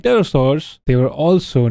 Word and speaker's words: Pterosaurs: Pterosaurs. Often pronounced with a silent P, were flying reptiles that lived alongside dinosaurs and were technically not dinosaurs themselves.